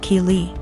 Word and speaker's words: Keely: My daughter's name is Keely, pronounced Keely.